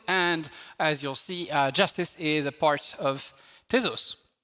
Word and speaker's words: Jstz: So it's written JSTZ pronounced justice and it's called justice